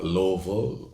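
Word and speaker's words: Illovo: places um we've been to clubs in uh Louisville that's how you say it Louisville i l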